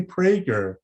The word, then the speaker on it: Prager: i'm talking to prager i hope i pronounce your last name right is that correct prager yeah it's close close enough we go with a strong a so we say prager right but i know